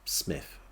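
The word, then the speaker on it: Psmith: Smith in the city I never knew quite how to pronounce Smith I think it's a silent p 3 weeks from Elena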